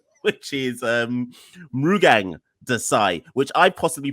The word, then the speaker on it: Mrugang Desai: Monty by his actual government name, which is Mrugang Desai, which I possibly pronounced wrong anyway.